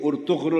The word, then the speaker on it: Ertugrul: This Sultan Alauddin, of Seljuk’s, his niece, his niece, Halima Sultan, his niece Halima Sultan, she got married to Ertugrul, which is pronounced as Urtugrul in Urdu.